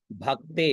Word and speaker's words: भक्ते: और द तो त्वद भक्ते भ आधा क और ते तो भक्ते उसके आगे आधा स तो भक्तेष ठीक है।